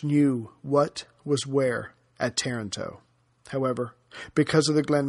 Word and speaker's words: Taranto: central virginia yes i just found out it's pronounced taranto not toronto from a listener who is married to someone